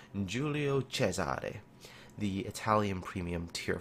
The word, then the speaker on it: Giulio Cesare: In today's video, I'm going to be talking about and I'm going to try this in the Italian pronunciation, Giulio Cesare, the Italian premium tier 5 battleship that is currently being tested, I believe, on the ST server.